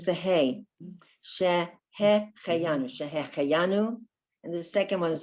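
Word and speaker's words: שהחיינו: So that word is Shehecheyanu. Shehecheyanu. This first is a hey, and the second letter is a chet. So it's Shehecheyanu.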